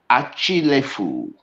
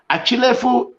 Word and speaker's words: Achilefu: Samuel Achilefu.